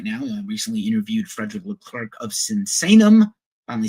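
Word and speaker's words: Leclercq: I recently interviewed Frederick L Clerk of Sensanum.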